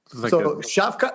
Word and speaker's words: Shavkat: He's 26 years old, and they say just call him Shavkat. Oh, okay. Shavkat, it's I see it. Yeah. Shavkat Zon. Okay, that's how you say it.